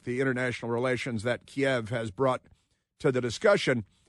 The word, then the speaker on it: Kiev: say out of Kiev which isn't called keev it's called Kiev and don't uh steal a syllable from from Kiev it's not ke it's Kev and uh the associated